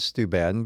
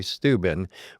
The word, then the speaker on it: Steuben: I've always said Steuben, but I hear other people say Steuben. What is the correct way to pronounce that? Depends on if you're from there. I always say Steuben, Okay. which gives it a longer feel.